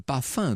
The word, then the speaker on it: parfum: incroyables empeste le parfum le pas fin devrais-je dire puisqu'on prononce pas les airs les costumes d'apparat porté